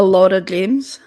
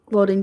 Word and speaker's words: Lauren James: He just called her Laura James. Huh? Her name's Lauren. Seth.